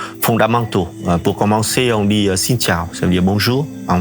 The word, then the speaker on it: xin chào: Par contre, les mots sont courts et c'est quand même facile à prononcer. Et je vous apprends quelques mots vraiment fondamentaux. Pour commencer, on dit xin chào, ça veut dire bonjour en vietnamien.